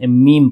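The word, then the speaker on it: meme: तो बाज दफा हो सकता है कि कोई लोग इसे गलती से में पढ़ ले। पर यह में नहीं है। इसे मीम पढ़ा जाएगा।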